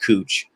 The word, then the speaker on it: Couch: fun of me but it's actually pronounced cooch so the next time